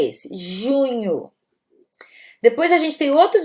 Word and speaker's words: junho: Junho.